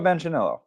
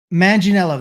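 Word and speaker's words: Manganiello: guy um he does the death oh Joe manello manginello that's it sorry I apologize I saying totally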